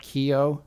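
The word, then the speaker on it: Keough: Now, this stars Riley Kehoe, who is Elvis's granddaughter. You knew that, right? Is that how you pronounce that? Kehoe?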